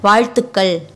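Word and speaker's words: வாழ்த்துக்கள்: While pronouncing it, the tip of your tongue touches the middle roof of your mouth. Together, vaazhthukkal. For happy birthday, you say Pirandanal vaazhthukkal. You already know vaazhthukkal.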